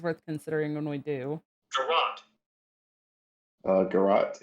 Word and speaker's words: garrote: Garrote is pronounced garrote.